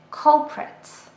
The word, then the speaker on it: culprit: Culprit. This is a noun and 2 syllables, culprit.